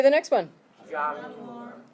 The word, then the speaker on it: Januar: January. It's a Y sound, so not a J, but a Y. So try it. Januar. January. Okay, so like you're yawning.